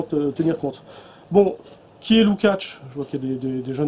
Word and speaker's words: Lukács: faut pas dire est jeune il faut dire lukacs on n'est pas être l'accent tonique comme on est en droit mais diffus